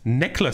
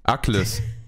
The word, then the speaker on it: Ackles: Jensen Ackles. Wer? Das ist der Hauptdarsteller von Supernatural. Ah, wie wird der geschrieben? Jensen Ackles. Necklace. Jensen Ackles. Ackles, nicht Necklace.